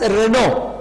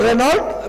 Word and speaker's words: Renault: he in here uelt in french language we pronounce this as renault so renault we are a company